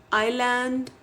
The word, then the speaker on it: island: Other examples like pneumonia, psychology, wherein P is silent, island, S is silent, whistle, T is silent, campaign, G is silent, bristle, T is silent.